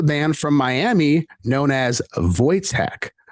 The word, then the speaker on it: Wojtek: members of the band from Miami known as vojtek spelled w-o-j-e-k hey there guys how's it going